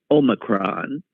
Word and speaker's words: Omicron: And in fact, I'm pronouncing it using the British pronunciation, Omicron, because the American pronunciation was said to be Omicron.